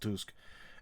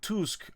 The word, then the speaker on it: Tusk: Prime Minister Donald Tusk, I know it's spelled like Tusk, but I believe in Polish it's pronounced Tusk, and the Minister of National Defense Władysław Kosiniak-Kamyński was held last month.